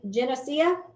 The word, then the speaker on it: Geneseo: suny tell me again how to say this geneseo and the seals perfect okay i have a